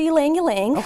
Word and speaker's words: Ylang Ylang: Is it Ylang Ylang? Ylang Ylang.